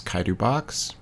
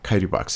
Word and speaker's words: Chitubox: This is Chitubox. I think it's pronounced that way. I don't think there's like a sh sound or a sound to it.